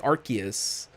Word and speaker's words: Arceus: uh on the monday set it with an with a k like arceus and yeah that's how you say it it freaked me out